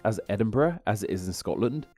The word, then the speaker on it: Edinburg: the capital of Scotland its name lacks an H on the end so instead of being pronounced as Edinburgh as is in Scotland